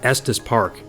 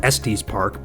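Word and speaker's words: Estes Park: that's pretty cool because it actually knew how to pronounce Estus Park you know I even hear people in real life typically who are from out of town they call it eses Park but the AI actually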